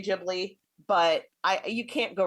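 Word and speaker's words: Ghibli: moment and I love Studio jibli same or Studio gibly depending on how you want to pronounce it I tend to go with how Miyazaki pronounces it and he says jibli yeah so I will say jibli but I you can't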